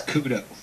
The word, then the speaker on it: Couto: Couto and Kale Kelly. Gentlemen, are you with us? We are here. Yes, we are. Awesome. Did I pronounce it right? No. No. Close. Oh, well. Actually, it's Couto.